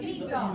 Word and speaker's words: Isaac: Esau. Spelled like Isaac, yeah. Isaac and you call him Esau.